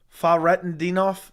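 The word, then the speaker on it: Fakhretdinov: hey Joey great channel the K and fakin off is silent it's pronounced faret andof Faro fof i d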